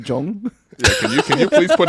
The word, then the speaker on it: Zhong: Zon's Barbecue at First Markham Place. Again, I like to grab these to use as bookmarks. Is it even pronounced like that, Will? Wouldn't that be like Jong?